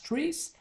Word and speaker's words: TRIZ: So the TRIZ, pronounced as TRIZ, stands for Theory of Incentive Problems or of Inventive Problem Solving.